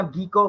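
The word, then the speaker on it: gecko: मुझे गैको, मुझे नहीं समझ, क्या कहते हैं, मुझे दोबारा रिपीट करेगा। गैको, गैको या गीको, पर असली इसका जो तलफ्फुज है, प्रोनाउंसिएशन है, गैको है।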